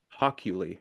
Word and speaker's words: Hockley: Hockley, is that how you say it?